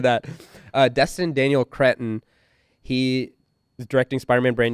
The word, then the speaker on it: Cretton: Daniel something Creston maybe? Daniel Daniel Crest. He also uh directed Wonderman which I loved. He directed Yeah. Oh sorry, Destin Daniel Cretton.